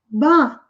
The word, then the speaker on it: bought: Auction é leilão, bought é o passado de buy. Buy, B-U-Y, 3 letrinhas. No passado é mais comprida, mas a pronúncia é curta. Bought.